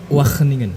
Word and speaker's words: Wageningen: Wageningen. Wageningen, Ya. waduh. Pronunciation-nya Belanda itu, Pan. Masyaallah. Agak ada h-nya sedikit di sini.